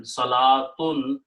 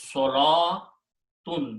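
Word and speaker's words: صلوٰة: Salatun is a feminine word. Okay. Number two, this waw is not pronounced. Okay. So the pronunciation is salatun.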